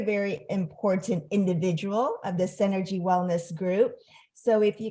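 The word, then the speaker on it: Senergy: it please help me is it Synergy it's at synergy.us but it's spelled s-e-n-e-r-g-y dot u s so it's energy with an S and and basically what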